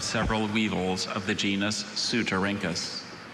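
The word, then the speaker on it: Ceutorhynchus: Sylvia examined the beautifully translucent amber carropuses of several weevils of the genus Sutarinkus.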